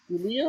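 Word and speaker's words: Giulia: Julia? Julia. Julia? Julia. Spell it with a J.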